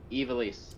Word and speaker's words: Ivalice: this is the raids i v a l-i-c-e ivelisse ivelisse ivelisse yeah make it not the mama